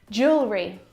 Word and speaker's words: jewelry: pack my clothes tonight Jewelry jewelry jewelry again we've got an extra vowel here that we don't need to pronounce we don't